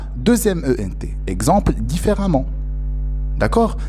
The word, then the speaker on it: différemment: Exemple, différemment. D'accord? Donc, cet adverbe-là se termine par E, deuxième ENT, qu'on prononce différemment, élégamment.